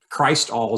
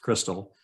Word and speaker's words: Crystal: Crystal Records USA was actually Christ All is the way we'd say it, Christ All Records, but it's pronounced Crystal.